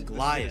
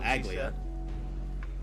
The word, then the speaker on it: Aglaia: Aglaia told us to protect the Aglaia. citizens. That's how you pronounce it, not Aglia.